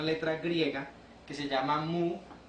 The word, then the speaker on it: mu: un símbolo, una letra griega que se llama mu, o que a veces se pronuncia también como nu, y que quiere decir el coeficiente de rozamiento.